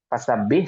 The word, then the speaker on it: فسبح: Dan yang terakhir adalah tadi di bacaan fasabbih, sama itu jangan dipantulkan ya, fasabbih, kemudian wastaghfir.